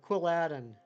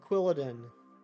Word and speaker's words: Quilladin: uh the uh uh quilladin or uh quilladin or whatever I know it's supposed to be Paladin so that would yeah I guess it' be quilladin I'm like the quillin of